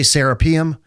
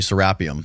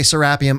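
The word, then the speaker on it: Serapeum: Americans say serapium. Egyptians say sarapium. I've been living in Egypt for 3 years. They say sarapium.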